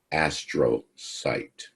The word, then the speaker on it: astrocyte: this one you don't the cell is pronounced astro sight sounds like uh something from the jetsons their dog was named astro so astrocytes what they do is